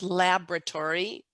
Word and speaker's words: laboratory: in american english it's laboratory the o is silent in the middle of that word laboratory which is different